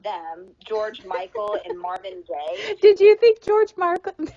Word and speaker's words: Gaye: pronounce his last name? Gay. Oh, so it's not like Gabe. I gave you $1. No, it's gay, like the sexual orientation.